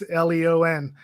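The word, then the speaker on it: Léon: There's a version that Yeah, it's Leon, because I say it like that because when I watched one version with the subtitles, they kept saying his name is Lyon in the subtitles, which was odd.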